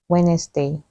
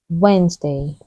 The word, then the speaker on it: Wednesday: week do you say Wednesday the correct way to say it is Wednesday Wednesday the first D is silent here's an example the